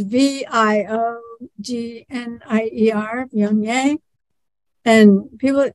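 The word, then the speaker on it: Viognier: a hard one to pronounce and it's v-i-o-g-n-i-e-r Pyongyang and people pronounce it all different ways like bognier and all sorts of things but one time somebody came in and asked for that vaginaire why so that lives on there are no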